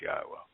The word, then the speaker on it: Yahowah: and only one name and that it is pronounced yahwah and that his Torah means teaching and guidance